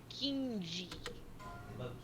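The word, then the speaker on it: Keenge: What the student named King spelled K E E N G E. Kingi. King. We love Kingi. Pronounced King.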